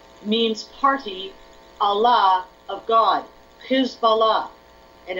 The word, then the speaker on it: Hizballah: party Allah of God who's Bala and if you pronounce it or write it any other way you lose that meaning they believe Iran and